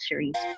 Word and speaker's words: Ceresee: music spotify it's c-e-r-e-s-e-e-j and my name is pronounced cherise what baby what